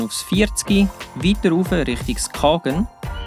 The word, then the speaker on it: Skagen: 40, weiter rauf Richtung Skagen, was übrigens richtig ausgesprochen Skagen heisst, und nachher hier am Parkplatz in Grenen gelandet.